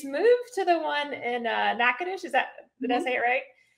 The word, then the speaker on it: Natchitoches: From the house in Tallahassee, she's moved to the one in Natchitoches.